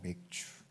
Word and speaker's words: 맥추: 발음에 주의하세요. 맥주가 아니고 맥추 보리 추수를 끝낸 다음에 지키는 감사 절기라는 거예요.